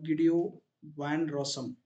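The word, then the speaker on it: Guido van Rossum: next who invented python the great GAO van rosom some people will call gideo Van rosam but it depends upon their wish it's completely depends upon their location and pronunciation okay gideo some people will call gideo Van rosam some people will call G van rosan okay he is the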